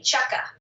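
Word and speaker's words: Chukka: you mentioned curs I don't know how to spell that yeah it's c h u k Ka chucka okay is that a local outfit yes chucka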